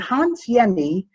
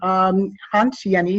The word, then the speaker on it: Jenny: And Hans Jenny, J is actually pronounced as Y, he's Swiss.